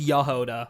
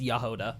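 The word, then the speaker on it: Jahoda: It is pronounced Yoda like exactly like you uh like you say.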